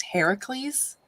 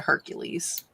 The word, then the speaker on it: Heracles: talk about hercules they're going to correct you that it's heracles but heracles was it's so hard for people to say that they changed it to hercules people suck so hard